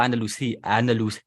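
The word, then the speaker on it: Andalucía: Is it Andalusia or Andalusia? Andalusia. But it's not a Z. It's a C, isn't it? Yes, but the C is pronounced as the Z.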